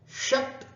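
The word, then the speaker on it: षट्: चतुस, 30, पंच, 30, षट, 30। यहां ध्यान देना, ड नहीं है, ट है, षट, षट 30, सप्त 30, अष्ट 30, नव 30 अथवा 39, 40।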